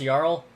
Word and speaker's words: Jarl: I think it's a Skyrim reference, and that's why it's pronounced Jarl.